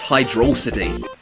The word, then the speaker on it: Hydrocity: __ ] Yeah, it's how it's spelled in the game. It's one single word. Yeah, so it's foresight, but we don't say fore-site because it's one word.